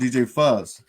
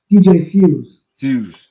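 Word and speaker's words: DJ Fuze: That was you and DJ Fuzz. DJ Fuse. Fuse. I, I spelled the name right, but I pronounced it wrong.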